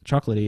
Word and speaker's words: Chocolatey: one of the guys was asking about um chocolaty okay am i pronouncing that right yep I mean his first question was why did we go with midnight over chocolate chocolatey is that right so I and I think